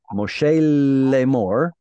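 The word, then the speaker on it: משה לאמר: They're giving us the tradition that they received from before, and they were taught to pronounce this as Moshe Lemor, hanging out on that lamed.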